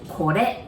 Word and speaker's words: kore: We say kore. Again, there's R there, so you pronounce it like L.